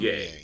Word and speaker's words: Ozuye: Ozuye, right? That's how Azuye. Ozuye. Ozuye. Yeah, the zoo is the where the syllable is.